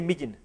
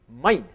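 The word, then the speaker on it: mijn: How do you say Migin? Migin. Mine.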